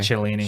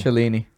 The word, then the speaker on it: Cellini: That's the Cellini. And, That's how you pronounce it, by the way. Cellini. Cellini.